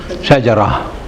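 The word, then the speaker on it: شجرة: Shajara. You pronounce the last one as ha. Shajara.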